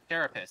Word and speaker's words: carapace: Carapace. It's carapace. Why am I... It's carapace. Carapace. I'm so good at pronouncing things.